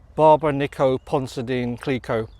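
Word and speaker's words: Barbe-Nicole Ponsardin Clicquot: Barbara Nico Ponsadine Clicquot. There you go. Finally got her name right. I wasn't going to end this vlog without actually pronouncing her name properly.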